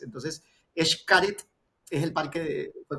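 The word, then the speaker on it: Xcaret: Ya la la la X la X en muchos dialectos, idiomas funciona como SH, incluido el gallego. Yo tuve la oportunidad de estudiar en Galicia y los gallegos utilizan la X como SH Shakira, así se pronuncia la la X.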